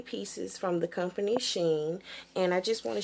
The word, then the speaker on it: Shein: So the first review I'm going to do is on a company called Shein. It's S-H-E-I-N, okay, and I may be pronouncing it wrong, but I'll say Shein, okay, and I saw